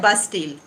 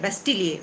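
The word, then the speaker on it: Bastille: इसको कहा जाता है बास्टील। अब इसको आप बास्टील कह सकते हैं, बेस्टील कह सकते हैं, लेकिन अगर आप फ्रेंच इसका प्रोनाउंसिएशन पूछेंगे तो वो है बेस्टिलिए, उसको बोलते हैं बास्टिलिए।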